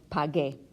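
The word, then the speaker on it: pagué: the actuality is is in Spanish if you have this gue con combination you don't pronounce the U the U is solely there to give me a good sound so this becomes your pod gay see Jo pod gay much like tokay we don't pronounce that you it's just there to give me the hard Gork sound so yo pod gay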